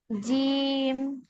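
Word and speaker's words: ج: করেন এটা জিম এইতো জিম টান কিন্তু একটু কম হয়ে যাচ্ছে আরেকটু টান দিতে হবে তিন আলিফ জিম জিম বলেন আরেকবার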